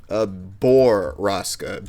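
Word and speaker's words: Borrasca: Baraska. Yeah, Baraska. Is it Baraska or Braska? Boroska. B-O-R. Hold up. Yeah, B-O-R-R-A-S-C.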